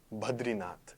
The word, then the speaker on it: Badrinath: This picture you're seeing on the screen is the temple Badrinath. Now, whenever you see Badrinath, people have mispronounced, even in the Hindi language, they put Ra after the.